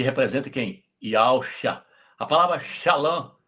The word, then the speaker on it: Shalom: A palavra shalã. Shalom aí na verdade é shalã.